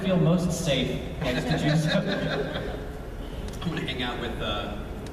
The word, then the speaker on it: Juzo: I always say Max White's character's name wrong. Juzo.